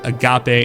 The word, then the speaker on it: agape: So, this is something that I'm sure a lot of people do not know how to pronounce. If you are not a uh theologian or a Greek scholar, you're not going to know. That word is called agape. And I know it's referencing